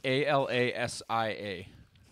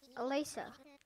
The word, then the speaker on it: Alasia: Pronounce A-L-A-S-I-A. Can you see that word in your head? Alasa. Alasa? Yeah. You didn't say any I's. There was an I before the A. Oh. Well, then Alasia. Alasia.